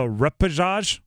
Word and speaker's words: repechage: The repechage. What? Repechage. I looked up how to pronounce it.